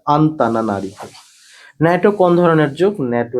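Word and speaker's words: Antananarivo: মাদাগাস্কারের রাজধানীর নাম হচ্ছে আন্তানারিভৌ উচ্চারণটা দিলে আন্তানা নারীভ ন্যাটো কোন ধরনের যুগ?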